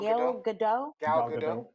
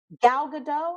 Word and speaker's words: Gal Gadot: woman with how do you say her name gail gadot gal gadot however she renegotiated they renegotiated so she got